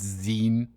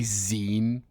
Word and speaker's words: zine: It's zine. It's technically zine. It's pronounced like zine from magazine.